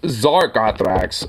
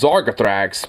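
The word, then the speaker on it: Zargothrax: well I didn't realize that's how you actually pronounce the name it's Zar gotthrex oh my bad I thought it was zarkathrax but um resemblance now my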